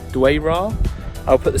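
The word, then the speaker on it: Dwejra: it, because I know Maltese, like a lot of other European languages, sort of pronounce the J's as Y's. So I presume it's pronounced Dwayra.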